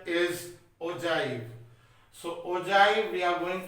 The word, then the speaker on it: ogive: Some people say ogive and all, but the correct pronunciation is ogive.